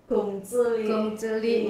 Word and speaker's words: Kongzili: Oh, Gongzili itu bacanya Gongzili, Masya Allah.